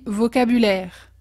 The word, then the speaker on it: vocabulaire: est important ici c'est l'accent tonique en français toutes nos phrases on a tendance à part pour les questions on a tendance à mettre l'accent tonique à la fin du mot par exemple on dit vocabulaire on dit pas vocabulaire on dit vaut au cac bullaires la même façon souvent